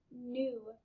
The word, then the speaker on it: knew: Knew. This K is silent at the beginning.